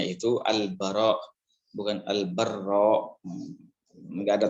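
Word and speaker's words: al-Bara': yaitu dari pesawat al-baqarah Ibnu azib nya cara bacanya itu al-baqarah bukan Albar Romeo nggak ada passwordnya pokoknya al-baqarah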